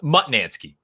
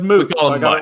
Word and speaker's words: Mutnansky: Well, Mutnansky. Okay, I said Moot. We call him Mutt, but if he's watching, he's going to get a kick out of that.